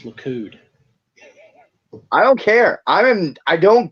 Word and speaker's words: Likud: Blue Kid was based on Mussolini's Italy. I told you last time it's Likud.